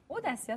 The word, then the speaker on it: Odacia: Audacia, simplement. Comme audace, c'est une audace.